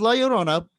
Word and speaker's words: La Llorona: The legend of La Llorona, pronounced La Llorona, thank you.